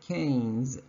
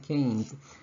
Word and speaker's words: Keynes: That's a cane, right? That's how you pronounce it. Just make it plural, you get Keynes, right? Keynes.